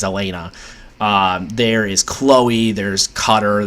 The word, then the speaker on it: Elena: I always say Elaine, but her name's Elena.